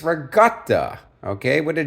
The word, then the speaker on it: ricotta: Masada and fresh Regatta now there's another Italian pronunciation most of you know it as ricotta cheese it's not ricotta not regut it's Regatta okay with a g in my mind right